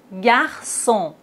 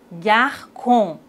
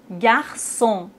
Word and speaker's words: garçon: bien et maintenant avec ses dire ça français garçon façade déçu mais s'il n'y a pas de CDI on doit les prononcer comme ça Franck garcon facades des culs mais on a la cédille